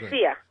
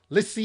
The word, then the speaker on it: Lisia: Am I pronouncing it right? Lisia. yeah, Okay, great. Lisia. Lisia.